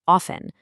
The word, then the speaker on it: often: Just notice how the T in often is usually totally silent. It's often.